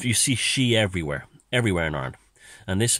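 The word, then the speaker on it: sidhe: which is called the she, S-I-D-H-E. That's how it's spelled, and it's pronounced she.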